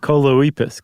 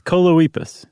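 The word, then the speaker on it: Choloepus: Oh, koipus. Coloipus. It rhymes with bosephus.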